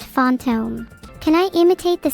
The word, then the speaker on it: fantôme: In French, it translates to fantôme, pronounced fantôme.